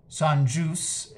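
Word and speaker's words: Saint-Just: um Saint just who I I believe is pronounced sanjus in the French uh as he's being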